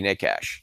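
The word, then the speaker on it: Nečas: We got to be Nekash. That's how you pronounce that.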